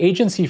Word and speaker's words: AGNTCY: So the agency framework, which is open source and which people will have a link to it in the show notes.